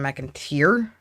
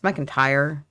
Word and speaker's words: McIntyre: I don't know why he's pronouncing it Adam McIntyre. It's McIntyre.